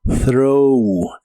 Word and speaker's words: throw: La th del inicio se pronuncia como soplando entre la punta de tu lengua y tus dientes de arriba y debe sonar como throw.